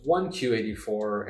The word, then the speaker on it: 1Q84: It wasn't until later that I realized it was 1Q84, and the Q is just a play on words in Japanese. The pronunciation Q means 9 in Japanese, and so it's really 1984.